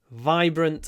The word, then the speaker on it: vibrant: and loud it's vibrant vibrant and loud when you say it vibrant try to get a lot of why in your VI because it comes before